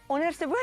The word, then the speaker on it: Onderste Boer: Am I saying it right? Onderste Boer. Onderste Boer, yes, that's perfect.